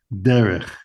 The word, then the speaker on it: derech: This falls on the syllable before the last syllable, derech. But when it becomes plural, drachim, it reverts. You hear it? Derech, drachim. It's not derech, drachim. It's derech, drachim. So first, last in the plural form.